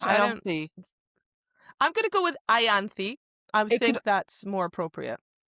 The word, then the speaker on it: Ianthe: So I looked this up and there's actually 2 versions of her name. It's Ianthe, which you're right.